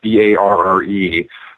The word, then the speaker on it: Barre: In my upcoming book, there is what looks like bar mass, but it's pronounced Barre Mass, Barre.